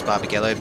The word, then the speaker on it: Barbagallo: Now Barbagallo or Barbagello, as I've sort of heard both pronunciations. I know it is Barbagallo, but I have heard both said in the past.